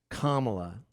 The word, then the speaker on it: Kamala: it again yeah because my understanding is uh kamla did I say it right yes you did